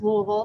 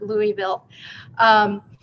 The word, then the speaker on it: Louisville: of jefferson county kentucky that is pronounced louisville not louisville our population here in